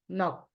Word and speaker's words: knock: Here we have N to be silent, can't pronounce. Like what? No, knife, knock.